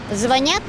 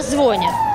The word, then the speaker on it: звонят: Вы знаете, одна женщина мне утверждала, когда я сказала, что надо правильно говорить «звонят», она очень засомневалась, потому что она говорила «звонят». Я ей говорю, нет такого слова в русском языке.